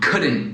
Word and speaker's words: couldn't: encurtado formam com apóstrofo couldn't, wouldn't, shouldn't. E notem que eu não estou pronunciando o T no fim, né? Couldn't, shouldn't, wouldn't.